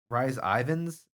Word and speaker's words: Rhys Ifans: Pronunciation. Rhys Ifans.